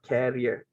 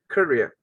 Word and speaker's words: career: uh for this word it should be the pronunciation is courier it's not carrier can you please repeat after me career career okay good because if you pronounce the